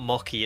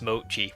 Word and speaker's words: mochi: I can't tell you how many times I got someone say that it it's not mocky, it's mochi, which is fair to be honest.